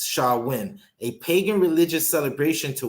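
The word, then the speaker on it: Samhain: ancient Celtic Festival Sam hay a GIC word pronounced Shalla win a pagan religious celebration to welcome the Harvest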